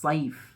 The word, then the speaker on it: صیف: صاد سے جو شروع ہوتا ہے ایک لفظ صیف، صیف سمر کو کہتے ہیں، موسم گرما، گرمیوں کے سیزن کو صیف کہا جاتا ہے۔ اگر ہم غلطی سے اس کو صیف کے بجائے سیف بول دیں، تلفظ اس کا یہ ہو جائے